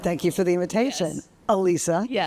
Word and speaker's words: Alisa: And for those of you who don't know how to pronounce my name, it's Alisa. So, think one Lisa. Alisa.